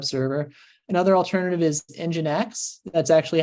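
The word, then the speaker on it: nginx: another alternative is is engine X that's actually how it's that's how it's pronounced is um engine X is how you pronounce that uh blows some people's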